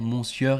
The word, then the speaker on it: monsieur: La prononciation c'est lycée et donc c'est monsieur monsieur en fait qui était mon seigneur à la base et puis ça a été raccourci pour devenir mon suur et monsieur. Voilà la raison pour laquelle on prononçait comme ça avant.